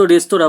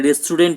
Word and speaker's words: রেস্তোরাঁ: যেমন ফরাসি শব্দ রেস্তোরাঁ বাংলা উচ্চারণে অধিকাংশ সময় রেস্টুরেন্ট হয়ে যায়।